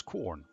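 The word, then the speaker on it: Quorn: fungus Fusarium venon artem probably not how it's pronounced the commercially brands it they commercially branded this wonder food as corn qu ORN not corn under the operating name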